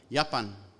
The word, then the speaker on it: Japan: instance Arabic gym Afrikaans you get a word like yapan also spelled with a J but pronounced can you